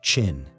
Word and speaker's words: Qin: And one state takes this transformation further than all the others, Qin, pronounced Qin.